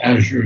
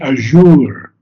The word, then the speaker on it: azure: Azure is a beautiful. I met with Christoph one time and he kept saying azure. And that is a secondary, but not the most preferred pronunciation.